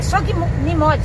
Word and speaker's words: Sognimode: É Sognimode. Sognimode, porque o G é mudo.